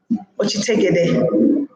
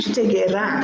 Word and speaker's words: Ochitegera: Ochitegera. It's a ra, not re. No, yeah. Ochitegera. Ochitegera. So that's the word that I've chosen, and it's Ochitegera. It's like ra.